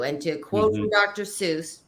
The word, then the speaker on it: Seuss: to quote from Dr Seuss it's actually pronounced soyce but that's a whole